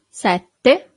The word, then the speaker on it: sette: Sette. So you have a double T here. Sette.